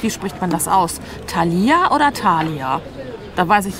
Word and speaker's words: Thalia: habe es richtig ausgesprochen Thalia nicht Thalia sondern Thalia habe ich richtig betont ich sag einmal irgendwas